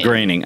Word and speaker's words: Groening: Simpsons guy Matt Groening no one knows how to pronounce this it's the last thing it should be his grain graining I know yeah and